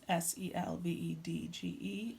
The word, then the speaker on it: Selvedge: Selvedge and Selvage. Pronounced the same, means the same, so I wouldn't worry too much about how you spell it.